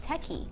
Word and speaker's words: TECE: And this is based on our in-house methodology of top talent engagement called TECE. Okay. So it's spelled T-E-C-E.